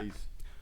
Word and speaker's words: Oralice: That's the name. You said it right. Yeah. Oralice.